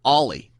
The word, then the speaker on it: Oli: funny you should say that I called him oie Thompson because that's how his name is spelled o l y Thompson all night on